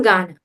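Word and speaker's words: घ: Like I'm from Ghana. Ghana is spelled Ghana.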